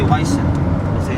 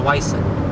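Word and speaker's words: wisent: You say Weissen. I know, you don't really pronounce the T. I pronounce the T. Bison. Well, it's not a bison, it's a Weissen.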